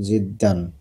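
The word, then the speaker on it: جدًا: লাযিযাতুন জিদ্দান, এখানে হুম, দুই জবর হবে। ঠিকভাবে উচ্চারণ জিদ্দান, করতে হবে তো, তিন সব জবর।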